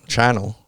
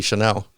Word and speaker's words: Chanel: I realized that when I mentioned Chanel, and it's really Chanel, I didn't actually follow up.